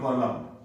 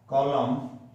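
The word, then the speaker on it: column: आपको लिखना है, इसका अलग पैटर्न है, through the stemmed कॉलम। कॉलम, इसके आगे एन आएगा जो साइलेंट रहता है।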